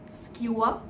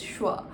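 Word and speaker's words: Schwa: How do you pronounce the name? Skewa? Squa? No, actually the name of the channel is Shwa, and the reason behind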